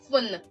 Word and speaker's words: téléphone: We are stopping the pronunciation at the N. Phone.